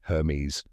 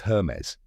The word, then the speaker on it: Hermès: A lot of people say it wrong, like Hermes or Hermes. But now you know it's Hermes.